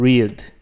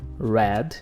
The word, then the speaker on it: read: A escrita, mas a pronúncia, to read no presente, read no passado.